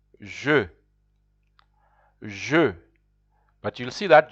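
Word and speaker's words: je: will see there I I in French is pronounced Ju Ju but you'll see that ju you can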